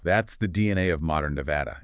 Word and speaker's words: Nevada: Most people lean into the Spanish origin, Nevada, which means snow-covered, so they use that soft ah sound.